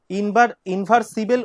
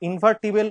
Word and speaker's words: invertible: আ matrix capital এ, a matrix capital A is said to be invertible, invertible, inversible উচ্চারণ হবে না কিন্তু, ইনভার্টিবল উচ্চারণ হবে।